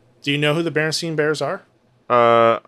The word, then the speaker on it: Berenstain: yeah I always remember people saying like the Bernstein the Bernstein bears but it looks like the correct pronunciation is Berenstain yeah I always thought it was steam as